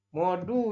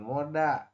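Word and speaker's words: 모두: Siapa tuh yang baca moda ya? Modu ini ya Robun, bukan moda.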